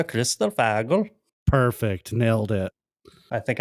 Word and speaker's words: kristallfågel: Vildhjarta, kristallfågel.